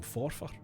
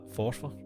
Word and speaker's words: Forfar: From Forfar.